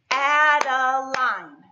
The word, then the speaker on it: Adeline: Adeline. How many syllables did you get that time? Let's try it again. Adeline. That's three syllables.